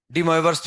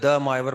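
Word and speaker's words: De Moivre: मुझे लिखवाना है ना डीम वर्स थ्योरम डीम वर्स थ्योरम डी मावर्स थोरम अलग-अलग प्रोनाउंस है मतलब प्रोनाउंस भी अलग अलग बोला जा सकता है ना हिंदी में बोलते हैं द मावर प्रमेय हम तो हिंदी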